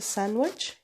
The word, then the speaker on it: sandwich: Alors, I would like a sandwich, he said. Le D ما يتنطقش. ما يقولش sandwich. Sandwich.